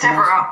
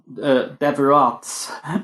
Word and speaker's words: Devereaux: So that X is silent at the end. Yes, it is. So it's not Deverats. No. Although I've heard that before. It's been butchered any number of ways over the years.